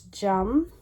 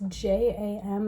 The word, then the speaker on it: JAM: Um, but it's jum. That's j a m. It looks like jam, but it's pronounced jum.